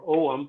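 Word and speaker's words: Ogham: uh also we found Celtic ogum or omam as they pronounce it and Libyan and his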